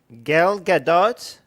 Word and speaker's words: Gadot: Gadot is how you say your name Gadot has been tapped